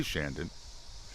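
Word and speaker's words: Chandon: she keep the Moet Shandon it's moay Mo Shandon I didn't it's French well I get that but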